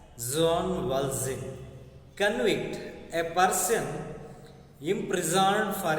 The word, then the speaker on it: Jean Valjean: See, here is a word and character Jean Valjean, to be pronounced as Jean Valjean.